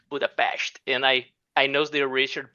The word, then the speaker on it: Budapest: friend told me, like, although Budapest in Hungarian Budapest, there is for Brazilian people is kind of a X in the middle of the word, right? Budapest.